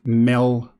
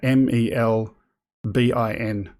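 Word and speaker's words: Melbourne: The capital of Victoria is pronounced Melbin. You're an Aussie if you pronounce it like that, Melbin.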